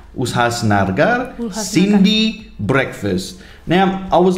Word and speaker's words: Ulhasnagar: Ulhasnagar. Ulhasnagar.